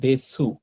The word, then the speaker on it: です: প্রথম কথা হচ্ছে এখানে লেখা আছে দেশু, এটা দেশু লেখা, কিন্তু আমরা উচ্চারণ করতেছি কি দেশ। তো এটার নিয়ম কি, এখানে উচ্চারণের নিয়ম লেখা আছে, দেখেন যে শেষের ইউটা অনুচ্চারিত থাকে, অর্থাৎ এই যে ইউটা, এই ইউটা আমরা উচ্চারণ করব না।